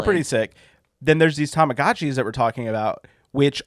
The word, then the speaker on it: Tamagotchi: The Japanese the Japanese pronunciation would be It's Tamagotchi.